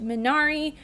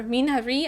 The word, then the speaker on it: Minari: Then the next day I watched Minari, or Minari, I think that's how you say it in Korean.